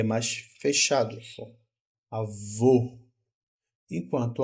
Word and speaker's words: avô: acento para indicar aqui olha aqui ó avô o e avó ó avô o o o o o o é um o é mais Redondo certo e é mais fechado só a vô enquanto a vó que